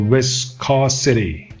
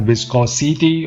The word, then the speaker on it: viscosity: Number 4, viscosity. Not viscosity or something like that. Viscosity. Keep it crisp and nice.